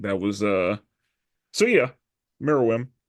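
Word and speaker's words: Meruem: was uh so yeah mirim and I said his name wrong for a long time like I kept calling him Miriam yeah because I was switching the U in the E I mean I blame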